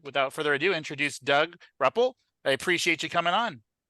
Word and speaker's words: Rupple: Yeah, it's actually Rupple, but that's fine. Rupple. Okay. Rupple. Got it. Excellent. That's okay. When I got signed by the Mets, they on the TV thing they pronounced it Rauple. They threw an A in there, so they added a